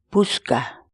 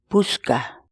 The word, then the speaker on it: puchka: série de vídeos onde nós ensinamos você a pronunciar determinadas palavras em quechua portanto a nossa palavra do dia para hoje é buscar buscar buscar em português a palavra quíchua buscar significa